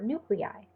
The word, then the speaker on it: nuclei: An I at the end of a word is pronounced I, as in bronchi or nuclei.